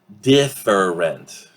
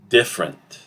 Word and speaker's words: different: Different. Okay? We reduce both E sounds, and we get something like this. Different. Different. Instead of different, 3 syllables, it reduces to a two-syllable word.